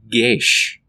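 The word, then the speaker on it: geas: no it's actually uh an old Gaelic word pronounced gesh I had to look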